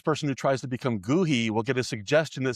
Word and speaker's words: Goohi: Even though it's not really a word, the h i would be pronounced e. So, it's Gooही.